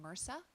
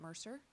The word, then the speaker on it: MRSA: just a side note it's pronounced MRSA not Mercer if you happen to have a medical person in your in your audience they'll notice something like that so MRSA is pronounced more so but yeah Marissa's scary